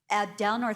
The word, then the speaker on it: Abdelnour: We also have, and I want to make sure I'm pronouncing her, Abdelnour. Is that correct? Abdelnour, thank you so much. Abdelnour.